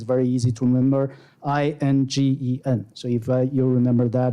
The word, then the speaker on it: Ingen: is indian.arizona.edu right we go by his japanese pronunciation inc and it's very easy to remember i-n-g-e-n so if you'll remember that it's going to